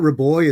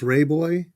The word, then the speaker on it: Ray Boy: So, it's not it's not Ra Boy, it's Ray Boy.